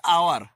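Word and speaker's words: hour: কিন্তু আওয়ার এইচ দিয়া, কিন্তু এইচ এর উচ্চারণ আসে নাই, আওয়ার, আ হয়েছে ভাওয়েল সাউন্ড, গতিকে এন আওয়ার হবো।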